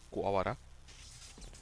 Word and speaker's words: Kuwabara: Que creo que la pronunciación de verdad es Kuwabara. Porque es algo japonés.